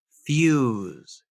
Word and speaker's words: fuse: why there phonetically or the word fuse it's FSE but notice there's a y in there fuse as in use there's